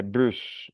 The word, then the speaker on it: bus: Et aquí se pronuncia la S, bus.